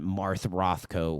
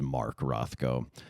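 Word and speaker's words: Mark Rothko: ineffable primal emotions that Marth Rothco was was seeking to pull out of you. You said Marth Rothkco. My brother does know it's Mark Rothkco.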